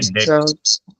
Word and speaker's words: debt: जैसे मान लो कंपनी ने उधार लिया है, तो उधार को हम इंग्लिश में बोलते हैं डेट। डेबिट। डेट कहते हैं, इसमें डी साइलेंट है, लेकिन स्पेलिंग DEBT है, डेट।